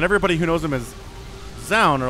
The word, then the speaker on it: Zaun: I've heard it said that the name is pronounced Jean. You know, if you actually try to say it the Korean way, but like, I don't know, man. Tasosis calls him Zaun because that's how it looks in English, but he's not English, so...